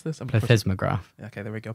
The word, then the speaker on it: plethysmograph: And it's it's described in the paper as vaginal, do you know how to pronounce this? Plethysmograph. Okay, there we go. Plethysmograph.